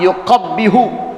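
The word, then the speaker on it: يقبّح: Bitasdidil muwahadah, baknya pakai tasdid. Qabbaha yuqabbihu, tuh baknya ada tasdidnya. Maksuratan dibacanya kasrah, yuqabbih baknya kasrah, gitu.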